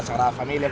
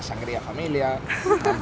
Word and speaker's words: Sagrada Família: Per aquí per exemple, amb el nom de la Sagrada Família, pues ens diuen la "Sangria Familia", la Sangrada "Familia", i així, o el Park Güell per exemple mai el pronúncien bé, però bueno.